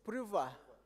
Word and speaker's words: Priva: Oh, it's pronounced Priva. Very good. Yes. Oh, I need to do. Okay. Yes. You are Priva, not Priva.